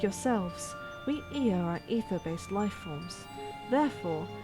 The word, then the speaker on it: Ea: When the vibration of vocal folds was still required to convey our thoughts and intention, ear I believe was the pronunciation used when referring to our people.